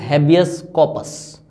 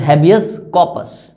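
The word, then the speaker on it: habeas corpus: अगर इसकी actual pronunciation बोलूं तो that is हैबियस कॉर्पस, that is हैबियस कॉर्पस।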